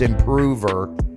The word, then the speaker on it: Improver: The one y'all tell me how to pronounce it correctly. It's Improver.